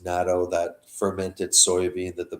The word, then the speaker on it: natto: past week about uh even natto or NATO I think it's pronounced natto that fermented soybean that